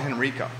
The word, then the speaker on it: Henrico: where don't say your address where's this coming from you can say the city Henrico is that how you pronounce that Enrico a lot of people call it Henrico yeah well I'm on